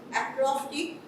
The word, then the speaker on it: acrostic: as as acrostic is known as acrostic okay acrostic the pronunciation is different and the spelling is also